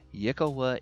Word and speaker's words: yklwa: has a hard time pronouncing it's called the yikkawa yakuwa that's according to the pronunciation guide they give in d and d beyond so yikkawa is the weapon it has no prior history